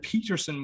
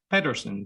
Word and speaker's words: Pederson: please welcome patterson peterson but you can call me whatever you i've been calling you so you call it peterson with a p with a d yes yes i know